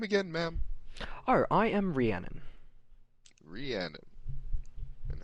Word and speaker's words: Rhiannon: and your name again ma'am uh I am Rhiannon Rhiannon and how would you spell that rhi a NN o n ready Arnold